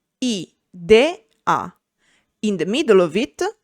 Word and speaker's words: idea: We can have I as a standalone syllable at the beginning of a word, for example, idea, I-de-a.